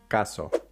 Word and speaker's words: caso: Notice the first syllable when you're pronouncing it, the p, th, k sounds. If you notice a burst of air coming out, you are probably saying them with an English or an American accent. Pronounced that way, these words are going to sound like palo, palo, tío, tío, caso, caso. What you want is a more muted sound.